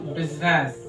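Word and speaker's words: business: य आई एस एन E double S इसको बिजनेस बिजनेस इस क्या पढ़ेंगे बिजनेस बस यही थ्री वर्ड्स थे जिनमें आई साइलेंट होता है नेक्स्ट हम क्या करते हैं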